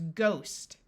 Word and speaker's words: ghost: word is sigh tight there are a few words where the GH has a silent h meaning GH together will have the sound of G here we have a